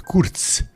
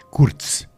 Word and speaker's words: Kurc: Então, meu nome é Joseph Kurk, que o Kurk se pronuncia Curts, porque o se em polonês é como se fosse TS ou TZ. Curtz, Joseph Curtz, nasci na